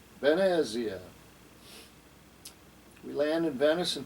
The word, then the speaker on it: Venezia: will start at venice venezia is the way they pronounce it in italian benaziah we land in venice